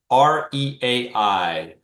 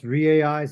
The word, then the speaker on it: REAI: So some people just pronounce REAI, some people just say REA. So maybe just short, simple, we just call it REA.